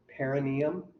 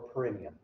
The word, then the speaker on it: perineum: use the same name commonly pronounced two ways perineum or perineum doesn't matter to me how you pronounce it that is that part